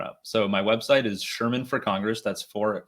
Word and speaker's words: Scheirman: you're going to need to know how to spell that for all of this stuff coming up so my website is sherman for congress that's for spelled out for there